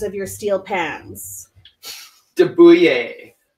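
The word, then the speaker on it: de Buyer: of your steel pans Daboo yay I think that's how it'd be pronounced D you yet de be you ye are it's a French steel pan and there's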